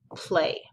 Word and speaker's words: play: So like in the word play. So pl, and then this A and Y together are making an A sound.